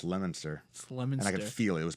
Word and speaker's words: Leominster: came up here and he said I'm at a hotel in Leo Minster and I was like what and I was like well it's lemon sir I can feel it